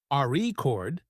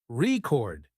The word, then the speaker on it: record: that's true for example in the word record if you stress the first syllable re chord it's a noun but if you stress the second syllable record it's a verb practicing stress and intonation